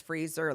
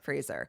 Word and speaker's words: Fraser: He says Fraser like laser. Yeah. Fraser.